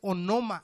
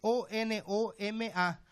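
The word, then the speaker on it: ὄνομα: Y la palabra es onoma, así se escribe, O-N-O-M-A, onoma.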